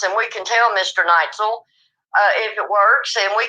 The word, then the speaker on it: Neitzel: Neitzel. Okay, Ron, I'm so sorry. Please forgive me, sir. Ron Neitzel is how you pronounce his name.